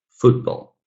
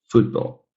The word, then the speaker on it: football: pronunciation is fairly equal, but usually that stress falls a little bit more on the first syllable. So we say hairbrush, hairbrush. And here in the second word, football, football.